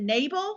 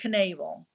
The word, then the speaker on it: Knabel: and I'm not sure is it naval silent K like Knudsen or is it Knable I think it might be silent cool okay so Andrea Nabal she went missing August